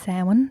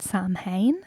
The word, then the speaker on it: Samhain: I heard that on the remake they mispronounced Sin. They called it Sam Hayne.